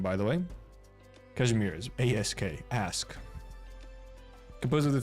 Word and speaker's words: Kazimierz: Known as a country of knights and commerce, Kazimierz is governed by the Adeptus Perfect pronunciation, by the way. Kazimierz, A-S-K, ask.